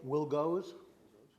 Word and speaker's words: Wilgos: And then Robert Wilgoss. I apologize if I pronounced your name incorrectly. It's Robert Wilgoes.